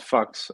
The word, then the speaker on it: PHUX: Well, Buck has a DEX called Fux on PulseChain, and was it yesterday?